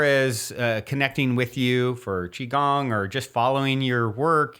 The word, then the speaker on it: qigong: and as far as connecting with you for chiong or just following your work you know social